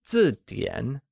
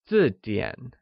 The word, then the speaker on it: zìdiǎn: That is not a dictionary translates to Nàbúshìběnzìdiǎn where Dictionary isZìdiǎn Zìdiǎn is pronounced with a falling tone on i and a falling rising tone on a, like Zìdiǎn Can you try and say it?